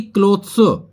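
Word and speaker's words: clothes: और जैसे कि क्लोथ्स, तो CLOTHE, एस लगी हुई है तो इसकी ई की आवाज नहीं है इसमें, क्लोथ्स कपड़े। और फ्रेंड्स जैसे कि जी,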